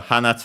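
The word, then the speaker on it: 花: Uh it comes from hana flower accent on the last syllable and the accent there is actually distinguishing uh part because uh without the accent it becomes nose hana uh oh yeah flower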